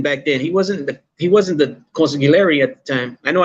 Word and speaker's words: consigliere: I say the G all the time.